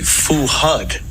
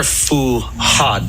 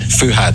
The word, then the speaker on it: Fuad: pronounce it here I I think it would be Fu HUD no they're fuad fuhad fuhad fuhad and what do you